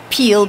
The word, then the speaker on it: Peale: get this right REM be RA and DT peel PE al e because I wouldn't that wouldn't